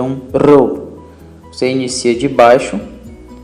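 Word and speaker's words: ρ: A letra Rho tem o som de R entre duas vogais, como em falará. Você percebeu que eu dei uma ênfase em Rá, e é exatamente essa ideia do Rho, ok? Não é como em carro, mas como em, nem como em rato, mas como em falará, ok?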